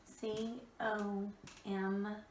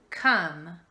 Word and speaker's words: come: You're going to see again that the word come has an O, which is our vowel, M, which is a consonant, and then an E on the end. But again, it is not going to say, it's not going to follow the silent E rule. That O is not going to say O.